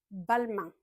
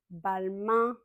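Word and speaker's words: Balmain: bonjour on Louis vuon balin bal main comme la main un comme pain de main balin balin similairement l'envin l'en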